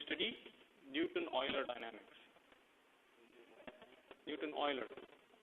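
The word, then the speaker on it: Euler: Newton Oiler. So this is you pronounce it as Newton Oiler.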